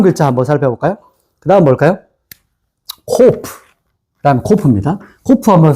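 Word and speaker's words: קוף: 요렇게 일자 내렸다가 코프.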